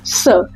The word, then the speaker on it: ce: सी ई। इसको प्रोनाउंस कैसे करते हैं हम? सर।